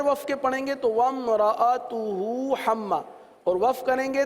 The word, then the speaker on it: وَامْرَأَتُهُ: واو میم زبر وم وم را زبر را ومرا. کیا ہو گیا؟ حمزہ زبر ا ومرا ومرا تا پیش تو ومرأتو ہا الٹا پیش ہو ومرأتو.